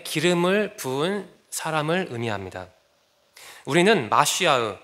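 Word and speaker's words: מָשִׁיחַ: 우리는 마시아흐, 머사야를 메시아로 발음합니다.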